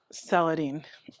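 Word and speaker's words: Salahuddin: So, the two main creators of the show are going to be Bashir, and I'm going to try to pronounce his last name correctly. It's Saladin.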